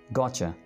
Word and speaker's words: gotcha: या gotcha.